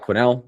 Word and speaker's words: Quinnell: My name is Scott Quinnell. It's pronounced Quinnel. Uh don't don't know why we ever added the s, but it's there.